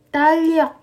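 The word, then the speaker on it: 달력: kotak pensil bacanya pil Tong Oke kotak pensil Bacanya adalah piltong Oke lanjut kalender talok Oke kalender tal Yok Oke kalender bacanya talok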